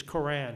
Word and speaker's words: Quran: use in English is Koran. He even makes an argument that people who are not Arab don't understand the word Quran. It's a funny Q, it's a long A.